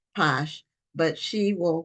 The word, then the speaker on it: Pache: Juliana and I believe her last name is pronounced Posh but she will correct